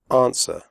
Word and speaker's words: answer: the door close answer the W sound is silent answer do not say on